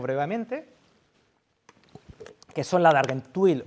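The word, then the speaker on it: Argenteuil: Tenemos el trapo del lavatorio de pies, las 2 túnicas, y ahora las explicaremos brevemente, que son la de Argentuil, o como se pronuncia en francés, y la de Treveri.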